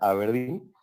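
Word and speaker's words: abrdn: las perspectivas de aberdeen es aberdeen se escribe adn pronuncia aberdeen y yo trabajo en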